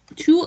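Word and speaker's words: 去: Chu è con la Q e la U. La Q e la U, sì, scusa. Sì, si legge chu.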